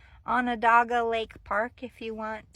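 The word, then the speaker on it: Onondaga: It's called Anadaga Lake Park. If you want to Google it, you spell it by an on dogga.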